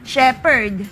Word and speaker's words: shepherd: of your word however if it is Shepherd pH it's a p Steven the Biblical name